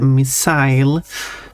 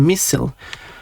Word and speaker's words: missile: like uh this way which I and many others are pronouncing a missile because you got the isle here as in I don't know a very common word like mile or I don't know tile but I know they are which I've heard that it's common in United States pronounce it as a missile like fossil.